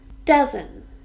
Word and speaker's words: dozen: Dozen. This is also a noun with 2 syllables, and we stress the first.